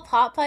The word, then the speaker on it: pot pie: You spell pot pie as one word? Chicken pot pie, yeah. But I usually put if I were saying pot pie, I would put the accent on the second part.